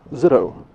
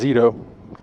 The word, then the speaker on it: Zito: Throw over the middle is nearly intercepted, in and out of the hands of Matthew Zito. Excuse me, it is Zito. Proper pronunciation, first time calling his name this season.